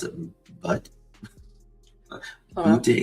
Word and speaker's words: Butte: of four in You pronounce it You pronounce it Butte? I don't Butte, Montana.